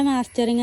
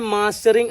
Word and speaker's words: മസ്റ്ററിങ്: കളി അല്ല പിന്നെ പെൻഷന്റെ മാസ്റ്ററിങ് എന്തിനാ പിന്നെയും പിന്നെയും ചെയ്യാൻ പറയുന്നത് പെൻഷന്റെ മാസ്റ്ററിങ് അല്ല പെൻഷന്റെ മസ്റ്ററിങ് എന്നാണ് യഥാർത്ഥത്തിൽ പ്രൊനൗൺസിയേഷൻ അങ്ങനെയാണ് വരുക ഉച്ചാരണം ഉച്ചാരണം